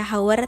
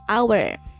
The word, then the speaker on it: hour: Ini karena honest dibacanya honest, huruf awalnya yaitu A atau A, sama kayak an hour, tidak dibaca hour tapi hour.